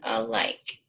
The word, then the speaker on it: alike: Okay, this A is a schwa because that doesn't have that A sound.